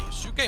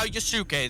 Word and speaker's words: Yusuke: is going to allow Yusuke the opportunity, and he collects on it. Okay, so I just need to mention this because Chad is telling us it's pronounced Yusuke. Okay. Not Yusuke. Yusuke.